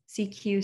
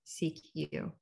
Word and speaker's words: CQ: as a cq call when pronounced in french the official language for international telecommunications cq sounds like the first two syllables of security used to mean pay